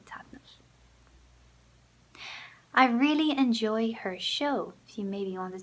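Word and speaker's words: seó: like show her show so it's spelled differently show but it sounds the same as in English it's brown a show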